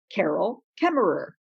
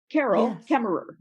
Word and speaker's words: Carol Kaemmerer: my name and you would hear me say carol kemmerer carol kemmerer and that would be your cue that you would know how to pronounce my name when we meet yes and